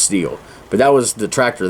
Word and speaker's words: Stihl: And just something I remember always, like it was this I think Stihl was or Steel, that's how you pronounce it, the Stihl I think, but I think it's pronounced Steel.